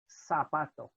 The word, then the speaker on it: zapato: And then we have Z, which is always pronounced like this. It's not pronounced like z. We don't make a buzzing sound with it. So the word shoe, for example, is repitan, zapato.